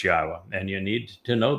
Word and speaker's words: Yahowah: U so be aware God's name is pronouncable. It is Yahwa. There is no B sound in the original Hebrew language.